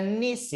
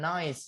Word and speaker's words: niece: Oke, ada niece ya, niece. Nah, niece bacanya nanti jangan noise ya. Noise itu bagus. Nah, tapi ini niece, niece.